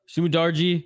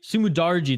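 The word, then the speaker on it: Su Mudaerji: on oh and schnell right off the bat sumidarji sumidarji that's how you say his name okay okay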